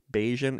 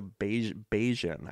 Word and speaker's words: Bayesian: called beige Beijing b-a-y-e-s-i-a-n Bayesian inference and I've seen when I was researching AI I kept seeing references to Beijing I think it's pronounced Bayesian inference so it becomes a